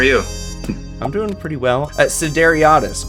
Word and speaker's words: Sideriadis: Sideriadis, correct?